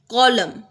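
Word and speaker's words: column: कॉलम, N silent है।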